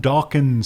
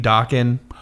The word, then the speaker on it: Dokken: real quick, the name Dokken is the band. It's also Don Dokken's last name. That's correct. It was decided that this is a good name because why? Please tell me. It rhymes with rockin'.